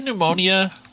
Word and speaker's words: pneumonia: Uh, why is pneumonia not spelled with an N? Why? Why do we why do we start it with a P?